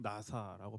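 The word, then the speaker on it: נשא: 여기서 눈을 들라라는 말은 히브리어로 들어라라는 말은 나사라고 발음하고요.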